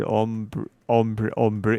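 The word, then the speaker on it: ombré: You wanted ombre. It's pronounced ombre.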